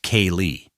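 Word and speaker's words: céilí: parties or a Friday night Sailith, pronounced K-Lee, at the Irish Hall in Charlottetown.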